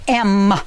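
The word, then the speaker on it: ם: it's a final M it has the sound of em em like in mom Alam ed and it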